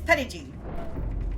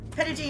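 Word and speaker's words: Petit: We do not call it we don't use the proper French pronunciation. However, uh the quoteunquote proper pronunciation of this mountain here in Arkansas is Petty. It is Petty Mountain because this is a south bastardize everything.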